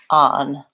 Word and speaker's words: on: will do this when we see the letter O for example in words like on and long or talk we may be pronouncing the vowel letter rather than vowel sound so I think using on I don't think I really do much of an O on I think I use an AA on so I don't use